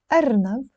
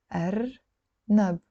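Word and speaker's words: أرنب: Arnab means rabbit. Arnab. Arnab. You see, I'm not saying arnab, and I'm not saying arnab the English way. I'm saying arnab.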